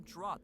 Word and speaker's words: draught: Yeah, what I've seen people pronounce the GH pronunciation is draft, like draftsman.